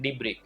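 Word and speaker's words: debris: या उसका अल्टरनेटिव है फिर है डिब्र ये एस जो है ना वो साइलेंट है इसको क्या बोला जाता है डिब्र यानी कि अगर कोई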